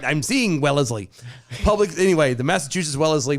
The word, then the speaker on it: Wellesley: said it wrong because my brain was reading it as wesley yeah and it is as well as lee but you said it